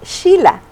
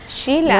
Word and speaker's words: Sheila: con el primer nombre la pronunciación correcta es shila shila no pero no puedo